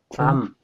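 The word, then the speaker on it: bomb: 덤브 할 때요, 이 M 다음에 B 나오면 영어에서 묵음이에요. 이 MB로 끝나는 게좀 있거든요. 이거 뭐지? 이거 어떻게 읽죠? 툼. 그다음에 이거 밤. 폭탄이란 뜻이잖아요. 그러니까 MB로 끝나면은 EP 묵음이다. 이것도 하나의 규칙이에요. 그 덤은 벙어리 이런 뜻이죠.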